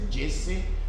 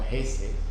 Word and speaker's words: Jesse: That's for Hesse Heinz, and then we have I'm not sure whether I'm pronouncing the name whether it's Jesse or Hesse. It depends on how you pronounce it, but I am pronouncing Hesse because I'm using the Spanish way of pronouncing J as H.